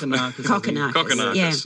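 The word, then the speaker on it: Kokkinakis: Am I pronouncing it incorrectly? Is it Close enough. Kokonakis.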